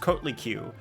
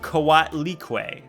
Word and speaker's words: Coatlicue: It was not pronounced Kotliku, but Coatlicue. My bad.